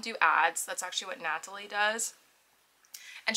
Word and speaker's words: Natalie: That's actually what Natalie does. And she pronounces her name with a hard T, that's why I'm saying it like that.